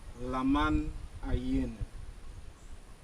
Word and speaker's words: Lamanai: go into the forest lamman is not the real name of this place the archaeologist have found out when the Europeans came here they mispronounce the real name of this Maya City the real name of the Maya City means submerged crocodile the real name of the city is Lan aen this is a very